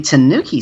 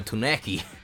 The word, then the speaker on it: tanuki: Have I been saying it wrong this whole time? Fine, fine. Calling it a Tunaki.